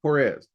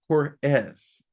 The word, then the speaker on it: Haures: It is HAURES, though some people pronounce it HAURES. So it's either with that EZ or the ESS.